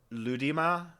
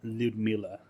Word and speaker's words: Ludmila: That last name, it sounds like Ludmila. Yeah, it's Ludmila Dubinia.